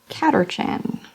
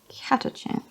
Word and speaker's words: Catachan: Caterchan. Catachan. Catachan. It says ER, but this is British ER, which is not actually ER. So Catachan.